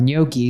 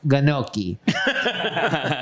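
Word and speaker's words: gnocchi: B's Italians over here she also corrected someone's pronunciation of noi saying it was pronounced ganoi if you don't know in Italian and French GN makes the NY sound like Nan CC usually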